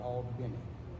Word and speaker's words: Albany: It's spelled Albany, but it pronounces, and everyone there pronounces it Albany, which is not country, it is rural.